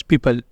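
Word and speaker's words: people: जहां है कुछ rules O is silent in the combination of ईओ एंड ओ यू जब ये दो कॉमिनेशन आया करेंगे उस वक्त ओ हुआ करेगा साइलेंट पहला कॉमिनेशन क्या है ई ओ का जब ई ओ आया करेगा तो उस वक्त हम ओ को प्रोनाउंस नहीं किया करेंगे जैसे यहां पे पहला है हमारे पास पीपल leopard country favourite favour तो इन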